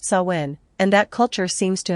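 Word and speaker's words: Samhain: reckoned on November 1st known as sawin pronounced sawin and that culture seems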